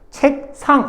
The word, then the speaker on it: 책상: 요거를 이제 바닥까지역 디귿 시옷은 된 소리가 된다 요거 일단 기본적으로 알아주고이 예로는 뭐가 있다 색상 이런 거 있죠 책상 책상 이렇게 굳이 끊어서 안다고요 그냥 뭐야 발음 책상 이렇게 되면 책상 책상 책장 옷장 이렇게 됩니다 옷장 그지 그렇게